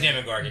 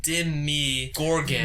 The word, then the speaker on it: Demogorgon: name of this creature it almost sounds like dim me gorgeous when you say most people